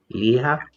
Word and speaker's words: Ligia: I think that's Ligia. If I did not pronounce that correctly, I Yes. apologize. Yeah, because I'm Hispanic and I know how to say her name. Liha, Liha, G is like a H.